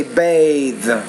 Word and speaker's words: bathe: bath then you say bathe so the vowel which precedes the voice interdental consonant is going to be longer so that's another thing